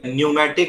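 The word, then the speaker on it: pneumatic: अब वो जैसा सिखाया गया अंशुल जी वैसा ही बोल रहे हैं, क्योंकि पी अपनी साइलेंट खराब होता है उसमें।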